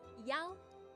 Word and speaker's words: yao: I-A-O in pinyin is pronounced as yao. Yao. It sounds like E-O-W as in meow, okay? Meow or yao.